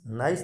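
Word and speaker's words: Nice: 2001 की नीस संधि इसको एन आई सई लिखते हैं इसलिए कई बार इसको ना नाइस नाम भी प्रोनाउंस किया जाता है यानी इसको नीस या नाइस दोनों नाम से बोला जाता है और इसका उद्देश्य था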